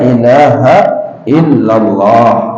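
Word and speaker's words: إله إلا الله: sunah in Ashadu Alla ilahaillallah nah di atas huruf lam jalalah nah di situ bertasylid juga dan illanya bertaslid Ashadu Alla ilahaillallah jangan bacanya Allah Ashadu Alla ilahaillallahillallah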